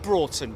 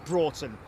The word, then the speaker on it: Broughton: I said Broughton, David Jones. As in brought, as in you brought it to me. Oh, for God's sake. Someone once told me it's pronounced Broughton, and now he's telling me it's Broughton.